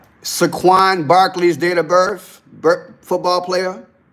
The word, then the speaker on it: Saquon Barkley: Pronounce his name right. Saquon Barkley's date of birth, football player.